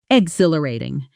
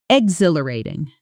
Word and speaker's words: exhilarating: Stress on the second syllable. This word is genuinely tricky. So let's slow it down completely. X hill a rating. Now blend it together. Exhilarating.